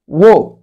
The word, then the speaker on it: walk: Walk. Walk. Walk. يمشي. W-A-L-K. W-A-L-K. Walk. Walk. A-L تنطق O.